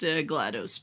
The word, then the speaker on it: GLaDOS: i would say it's glados isn't it wait yeah technically yeah she does technically speaking yeah it would be pronounced glados but i mean it's it goes too well with gladys so it's like whatever